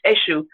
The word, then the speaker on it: Eshu: It's Eshu. Eshu. How do you spell it? ESU, the Brazilians, because many Yoruba went to Brazil. They spell it EXU.